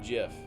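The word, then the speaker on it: GIF: until I found out the guy who created it prefers like he he named it jiff um i pronounce it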